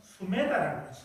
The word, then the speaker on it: 수메다: 그 수행자 선의 수행자 한문으로는 선혜라고 이 인도 발업에는 발음으로는 숨에다라고 그래요 길을 가는데 마을 사람들이